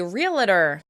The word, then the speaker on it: realtor: Same goes for the job "realtor." You can hear people say "realator."